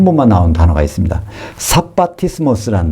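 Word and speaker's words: σαββατισμός: 사바티스모스라는 말. 사바티스모스. 헬라어로 성경에 한 번 나와요. 원래 샤바트가 안식이라는 뜻이죠. 안식인데 그거를 헬라식으로 발음해서 안식하는 일이라는 단어로 성경에 처음이자 마지막으로 등장하는 것이 히브리서 4장 9절에 사바티스모스.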